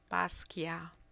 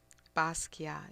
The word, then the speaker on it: Basquiat: Basquiat. Basquiat. It's like Baskeea. Do not pronounce the T. Just Basquiat.